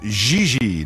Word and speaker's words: Gigi: You mean Gigi Ling? No, I mean JJ. Gigi. JJ. En français, you pronounce G like J and J like G.